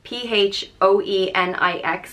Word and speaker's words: Phoenix: I think everyone knows this name it's spelled p-h-o-e-n-i-x and pronounced the Nyx Phoenix and this one comes